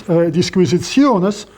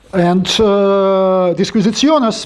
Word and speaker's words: Disquisitiones: and of course it's Disquisitiones. I'm not trying to pronounce it in correct Latin, I'm pronouncing it in the medieval Latin, Arithmetica.